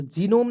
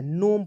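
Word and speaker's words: gnome: clear उसके बाद देख जी एन ओ एम ई तो जिनोम नहीं पढ़ना है नोम पढ़ते हैं क्या पढ़ते हैं नोम क्यों क्योंकि एन से पहले जब जी आएगा तो जी को साइलेंट कर लीजिए एन ओ से नो एम का लिखेंगे म अंतिम में ई को भी साइलेंट करना है मैंने आपको ई का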